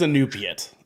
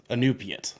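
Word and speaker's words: Iñupiat: Okay, it is Inupiat. Inupiat is how you pronounce it.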